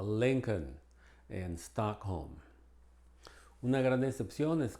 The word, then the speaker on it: Lincoln: como madera no y algunos nombres propios no se produce la l como Lincoln en una gran decepción